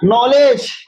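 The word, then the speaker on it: knowledge: है नो है ना नॉलेज के एन O double L इ डी जी ई नॉलेज तो के क्या हो जाता है साइलेंट तो एन से नॉलेज ठीक है ना अब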